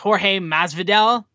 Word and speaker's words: Jorge Masvidal: UFC fame, and I believe his name is pronounced Jorge Masvidal, they were in the crowd, which was very cool.